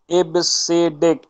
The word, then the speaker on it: EBCDIC: ठीक है, इसका प्रोनाउंस जो होता है वो इबसीडिक होता है।